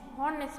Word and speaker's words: honest: an honest man, यहाँ पे h silent है. honest बोलेंगे हम.